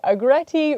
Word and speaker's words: agretti: sure they will feature a grety rhymes with spaghetti never grown it before